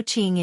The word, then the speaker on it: Qing: Also Q is pronounced like ch, so Qing and Yi Qing Han is Qing.